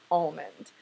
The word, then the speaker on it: almond: I am aware that most people would pronounce that word as almond.